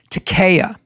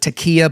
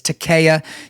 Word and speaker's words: taqiyya: notorious doctrine of deception, taqiyya. Okay, so guys, just Takiya, you may have heard people pronounce it Takiya, but it's Takiya, Taqiyya, and it's this.